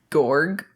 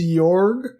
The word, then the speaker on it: Georg: So, Gorg. Is that how you say it? Hey, everybody. So, Gorg? I think it's Jorg. Jorg? It's G-E. It's George without the last E.